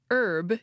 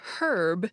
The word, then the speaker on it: herb: American English for example the word for a certain kind of plant is pronounced herb in American English and herb in British English so the proper form